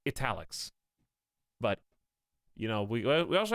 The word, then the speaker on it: Etalyx: I pronounce it like Etalyx.